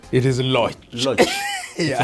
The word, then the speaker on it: Loch: And I realize I pronounced your second name wrongly. It's not Loch. It is Loch.